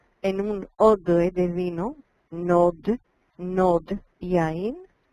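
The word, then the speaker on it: נאד: un odre de vino, nod, yain. La alef no se pronuncia, pero se escucha, porque se pronuncia como más largo ese jolam.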